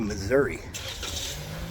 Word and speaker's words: Missouri: we're coming up to Missouri or as missourians pronounce it Missour Missour we're here in uh